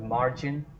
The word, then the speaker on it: margin: Then you have margin, margin, not margin. So A gets a stress and you put an unstressed mark on I.